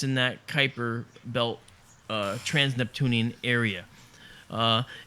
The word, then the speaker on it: Kuiper: of how it was captured out of the Kuiper belt the Kuiper belt spelled kayuu iper pronounced Kuiper the Kuiper belt is out beyond the orbit